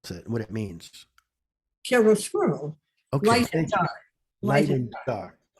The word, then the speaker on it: chiaroscuro: really I just wanted to get the name of the Fourth Symphony, how you pronounce it, and what it means. chiaroscuro, Okay.